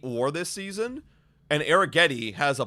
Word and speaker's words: Arrighetti: I found the pronunciation. Arrighetti.